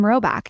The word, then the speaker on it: Rhoback: If you haven't already, it's now time to try out some Roback.